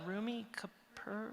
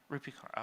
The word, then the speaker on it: Rupi Kaur: Rumi Kapoor? Oh, yes. Yeah. How do you say her name? Rupi Kaur, okay.